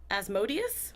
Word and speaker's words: Asmodeus: So I always, my head wants to say Asmodeus, but I don't know if that's correct. So it's Osmodeus.